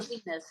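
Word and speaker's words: Xinis: Paula Zenas Zenas is how she in pronounces her name.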